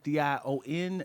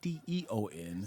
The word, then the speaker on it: Dion: Dion, Dion, not DEON. Say it right.